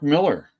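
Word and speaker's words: Millar: people working on it ghost riter everybody Mark Miller that's how you say his name unless someone doesn't know and then we all say malar together um oh wait Who's the artist Valerio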